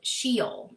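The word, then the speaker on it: Sheol: talks about the realm of the dead called shiel. It's s h e o l. And I'll spell that again in case you want to look it up.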